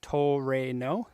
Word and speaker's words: Trueno: japanese i usually say truno or 86 just because 86 is easier to say in japanese it's pronounced more like toe rain that's the opposite direction to re no like toreno okay got